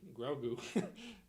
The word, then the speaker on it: Grogu: uh grogu i said it right this time grogu to get done with his his gandhi uh